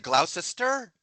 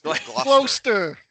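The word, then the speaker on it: Gloucester: He would have said Glausister. It's glaster.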